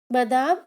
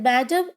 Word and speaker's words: Madame: It's MME, which is Madame, Madame in French and Madame in English.